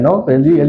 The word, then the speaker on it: Noé: Noah, que no han puesto como Noé, pero Noé es la pronunciación.